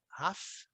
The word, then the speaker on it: half: Sempre lembrando, half, o L é mudo, né? Half. He has been, ele esteve casado, né?